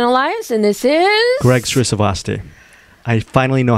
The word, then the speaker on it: Srisavasdi: Greg Srisavasdi. I finally know how to pronounce my last name.